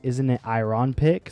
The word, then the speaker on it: Isn't It Iron Pick: Pretty sure this is supposed to be pronounced isn't it iron pickic, so it sounds like isn't it ironic, but us Americans in our dirty basic accent mess that up.